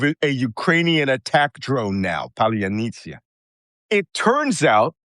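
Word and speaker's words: паляниця: Ukrainian attack drone now, Palyanitsia. It turns out Russians cannot pronounce this word because it has a sound in there that is not part of the Russian Cyrillic alphabet.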